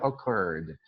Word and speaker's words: occurred: verbo ocorrer certo então passado seria occurred o mais forte é a última sílaba aqui então occur CVC então acrescentaremos mais